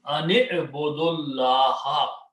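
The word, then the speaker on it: أَنِ اعْبُدُوا اللَّهَ: So an means that, but when you read together, you do not pronounce this alif. And in order to combine, you put a kasra under noon. Ani'budullah.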